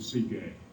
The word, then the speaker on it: Sige: Gnosticism says that there is an ultimate reality, which is the silence, the Sige. Now I'm pronouncing it in ancient fashion, which consists of a